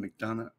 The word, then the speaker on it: McDonough: McDonough.